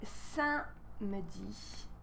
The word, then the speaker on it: samedi: So when you pronounce samedi, we don't really say samedi, right? We kind of squeeze this guy here. Samedi. But when you write, make sure you don't forget the E.